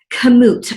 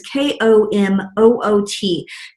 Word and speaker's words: Komoot: Komoot. I don't know if you pronounce it that way, but it's K-O-M-O-O-T.